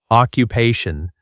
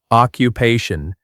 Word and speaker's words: occupation: Occupation. Pronunciation tip. Stress the third part. occupation.